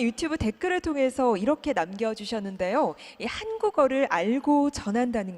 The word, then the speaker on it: 한국어: 성심성의껏 답변을 드리겠습니다 자 한국어 한번 발음해 보실래요 네 한이 약간 긴 발음이에요 그래서 한국어 이렇게 하시는 것보다는 한번 약간 눌러 주시는 것처럼 한번 해보실래요 네 이제 우리 격음